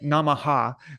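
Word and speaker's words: namaḥ: But like not like Namaha, but like right. you know, and so you echo the vowel at the end wherever it comes.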